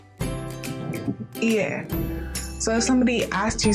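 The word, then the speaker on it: いいえ: And it's pronounced just like hi. On the contrary, how to say no is ie. Ie.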